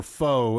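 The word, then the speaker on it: faux: Another chapter title that I really like is Friend or Foe, and foe is spelled F-A-U-X.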